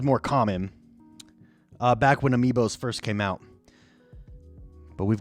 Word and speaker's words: amiibo: remember this one the first not Amobi amiibos I don't know why I'm mispronouncing him amiibo sorry I'm an idiot